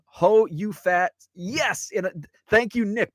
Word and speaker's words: Ho You Fat: And yes, it's spelled like it sounds. Ho space YOU space FAT. Ho You Fat.